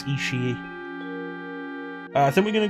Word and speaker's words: Ishii: That's why I know how to pronounce Ishii.